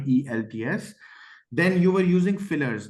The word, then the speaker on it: IELTS: For example pronunciation of you said eyelets. It's not it's e lts.